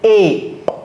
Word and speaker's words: ape: Alright, donc le singe, c'est pas ape, ok? C'est ape. The E is almost silent. Exactly. So the E is silent, okay? Not almost, it's completely silent. It's ape.